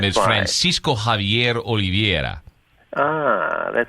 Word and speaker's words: Javier: She pronounces it a bit like Spanish. Yeah, like Javier. My family is from Buenos Aires, Argentina, so my birth name is Francisco Javier Oliveira.